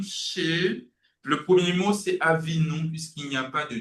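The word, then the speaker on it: אָבִינוּ: C'est la raison pour laquelle on prononce Avinou.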